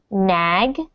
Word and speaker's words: Nag: And so when you see the word nag, just really try to pronounce nag with a g.